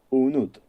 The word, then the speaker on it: Unut: se escribe estrella y se pronuncia exactamente igual, Unut, ya que para medir las horas los egipcios usaban precisamente las estrellas.